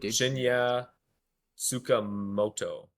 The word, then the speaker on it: Shinya Tsukamoto: I try to say his actual name. Dude. Shinya Tsukamoto. That's definitely it. That's how they say it in Japan. I'm gonna stand by it.